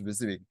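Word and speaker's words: WYSIWYG: it's like this viig we pronounce this one as viig it stands for what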